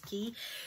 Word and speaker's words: Quay: guys i have a quay haul to show you i thought this would just be perfect timing since summer's around the corner um i think it's pronounced quay it literally says pronunciation is key so i'm going to